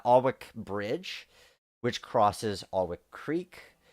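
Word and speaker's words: Aughwick: out and we have ogwick or allwick I guess the g is silent uh alwick Bridge which crosses arwick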